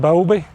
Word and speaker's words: Bowlby: And one of the things that changed everything for me was a book called Attached by John Bowlby. Bowlby, is that how you pronounce his name?